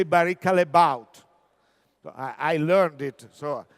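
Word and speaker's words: Barry Callebaut: division, the case of Barrica Les Baut. You know, all of us will speak Barrica Les Baut, but they are from Belgium, and they say Barrica Les Baut.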